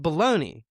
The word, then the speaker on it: bologna: What I do know is that the word spelled B O L O G N A is pronounced baloney and it has a first name.